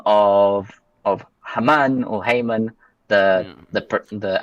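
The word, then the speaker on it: Haman: if if we could go ahead and pronounce it Hammon, that would be great because pronouncing it Hmon makes me think of Paul Haymon.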